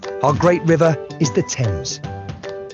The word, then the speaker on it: Thames: to start with our great river is the thames greenwich leicester square borough one of the best